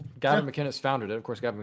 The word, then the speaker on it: Gavin McInnes: So why are you saying his name wrong? It's Gavin McInnes. No? Yes. You got to say it like that to annoy him.